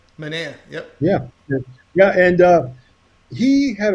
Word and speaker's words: Manaea: Is that the proper way to pronounce his name? That is the proper way. Manaea.